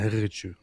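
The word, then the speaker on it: Haqiqatjou: represents Islam correctly and properly, it is Daniel Haqiqichu, or as he pronounced it, Daniel Haqiqichu.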